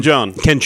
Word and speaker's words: Jeong: Ken Jeong. Young. I'm sorry, mispronouncing that.